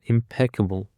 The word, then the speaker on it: impeccable: And for the last word we have got impeccable. Impeccable. The stress is on the second syllable.